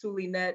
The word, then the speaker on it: Zulynette: instagram is at the underscore silly nets that is spelled z-u-l-y-n-e-t-t-e and no you cannot give me a nickname my name is sulinet and you may call me that thanks for